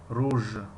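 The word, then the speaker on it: ruj: روژ، روژ، روژ. این در زبان انگلیسی این حرف گفتیم حرف ج تلفظ کنیم. آواز حرف ج را دارد، ج. لیکن در زبان ترکی آواز حرف ژ را دارد، ژ.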